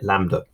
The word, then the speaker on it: lambda: like a capital y upside down and it's pronounced can you see here lambda and that's the symbol for wavelength so distance